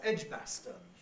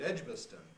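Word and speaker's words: Edgbaston: he comes because he wants to call that edge bastard with a in this middle syllable well i must confess that i like most people call it edgboston weakening to earth and he didn't like that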